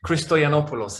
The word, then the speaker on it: Christoyannopoulos: Christoyannopoulos is how you say it, but I'm used to it being butchered and I really don't mind. It's entertaining, it's fine. It's funny how different nationalities tend to pronounce it in different wrong ways and to compare pronunciations, but it's fine.